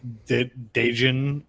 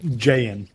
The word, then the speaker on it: Jayan: The I even played a Jayan deck, which people pronounce Dejin for some reason. Dejin? Isn't that how it's pronounced? Dejin? Jayan.